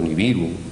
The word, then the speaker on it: Nibiru: mencionaba que había habido un planeta llamado Nibiru, o Neberu, como se tendría que pronunciar correctamente, y que este planeta